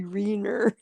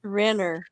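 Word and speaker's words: Renner: Jeremy Reiner. Isn't that how you say his name? It's Rener.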